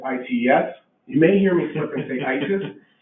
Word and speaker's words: ICES: So phonetically, people are pronouncing this ITES.